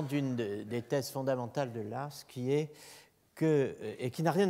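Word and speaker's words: Law: dont le nom est Edmund Lass, Lowe, prononcé à l'écossaise, Lass, sous le titre An Essay on the Origin of Evil.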